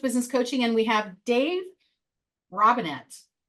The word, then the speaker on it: Robinett: I'm Coach Lee with Action Coach Business Coaching, and we have Dave Robinett. Correct. I said it right with an emphasis on the T.